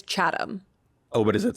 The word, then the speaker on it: Chatham: of Britain right so what's wrong with chatam it's chadam oh but is it